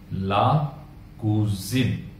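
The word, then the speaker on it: la cousine: है वो हो जाएगा ला कूजिन, ला कूजिन। अब देखिए एस के दोनों साइड में वॉवल है, इसीलिए जो एस का प्रोनाउंसिएशन है वो हो जा रहा है ज, तो कूजिन, ला कूजिन, ल कूजा और ला कूजिन।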